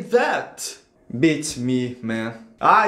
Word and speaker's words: beats me: A pronúncia correta é bit me. Bit me, do jeito que está vendo escrito aí, tanto em inglês quanto no alfabeto fonético internacional.